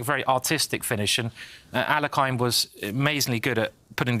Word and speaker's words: Alekhine: Yeah, I think Alekhine, and again, I'm saying the English pronunciation.